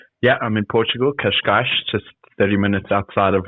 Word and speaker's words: Cascais: Yeah, I'm in Portugal, Cascais, just 30 minutes outside of Lisbon.